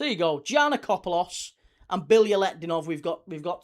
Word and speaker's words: Bilyaletdinov: Whereas Bilyaletdinov, that's 5. Bilyaletdinov, 5. What about Stelios Giannakopoulos? 5. So there you go. Giannakopoulos and Bilyaletdinov.